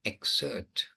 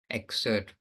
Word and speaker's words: excerpt: going to read an excerpt or excerpt English really they don't pronounce the PT so much excerpt from there so just setting it up.